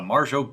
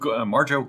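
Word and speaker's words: Marjoe: plummer how do you say marger it's uh marjo marjo gartner and also robert tessier who has been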